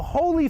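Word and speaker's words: Holi: Hindu Festival of Color it's called The Holy Festival that's spelled h o Li and last weekend thousands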